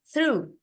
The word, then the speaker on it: through: eh terus ini bacanya through through through jadi kayaknya pernah dibah has ya Kalau enggak salah GH itu enggak ada bunyinya GH G enggak ada bunyya engak Oh yang kemarin